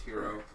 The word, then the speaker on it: gyro: Yeah, I know a gyro. It's also, in English, it's called a gyro, but in, it's... Yeah, it's technically pronounced hero, and it's full of lamb.